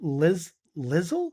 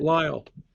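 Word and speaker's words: Lisle: He's currently a professor of New Testament at Northern Seminary in, I'm going to say this wrong, Lizzle? How do you say that? Lyle.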